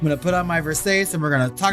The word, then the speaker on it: Versace: Some of you haven't pronounced it Versace and shows. I love that meme. It's Versace.